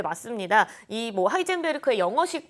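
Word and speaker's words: Heisenberg: 뵐클 말하는 게 맞는 건가요 네 맞습니다 이뭐 하이젠베르크의 영어식 발음이 하이젠 더욱이 때문에 이제 이 미국 작가가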